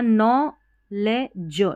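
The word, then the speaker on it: knowledge: फिर आगे है यहाँ नॉलेज, DGE को ज पढ़ते हैं, ठीक है। KN ऐसे स्टार्टिंग में आते हैं तो K साइलेंट रहता है, तो ये पूरा है नॉलेज का मतलब ज्ञान।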